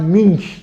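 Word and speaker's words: Munch: pintor escandinavo escandinavo de mim que eu tô aqui germanizando a pronúncia de mim porque ele u com trema nch eu não conheço as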